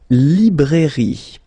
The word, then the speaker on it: librairie: Then, la librairie, okay? Remember, I here, librairie, final not pronounced.